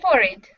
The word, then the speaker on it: forehead: i have to hide for it you have a high forehead yeah i think i just pronounced it in a british way not forehead but for it yeah forehead yeah you